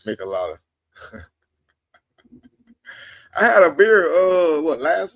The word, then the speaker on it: michelada: Man, he said, I need a michelada or michelada. That's how you say it. I said michelada.